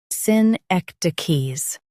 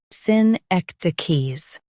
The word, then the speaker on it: synecdoches: Both US and UK have the same pronunciation of this word, SYNECDOCHES. Now read the syllables shown on the screen naturally. Syn, ek, d, keys. SYNECDOCHES. Emphasize ek and keep d soft.